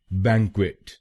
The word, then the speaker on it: banquet: इसकी सही प्रोनाउंसिएशन है बैंक्वेट। बैंक्वेट। इस शब्द में दो शब्दांश हैं। पहला शब्दांश है BANQ और दूसरा शब्दांश है QUET। पहले शब्दांश को यानी BANQ हम बोलेंगे बैंग, बैंग, और दूसरे शब्दांश को